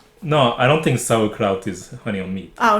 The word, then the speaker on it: Sauerkraut: How do you pronounce it? Sauerkraut. Sauerkraut.